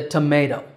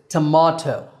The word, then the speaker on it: tomato: The British pronunciation is tomato. Now, in the pronunciation symbols on the screen, AME means American English and BRE means British English. Now, the American and British pronunciations of this word are mostly the same. There are 3 syllables in each, but it's that middle syllable that Americans and Brits disagree on. For Americans, that syllable is may, tomato. And for Brits, it's ma, tomato.